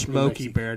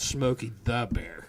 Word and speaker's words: Smokey Bear: was from New Mexico and actually we did pronounce his name it's Smokey Bear not Smokey the Bear Smokey Bear its you waited says Smokey Bear